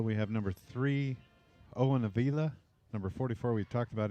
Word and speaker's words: Avila: i think it's avila i think they pronounce it owen avila okay and then number